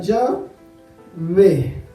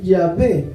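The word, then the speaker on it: Yahvé: más sencillo ya va hay quien dice que en realidad se pronuncia ya ve realmente nadie sabe cómo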